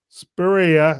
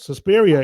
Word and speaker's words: Suspiria: He brought us Deep Red, Suspiria.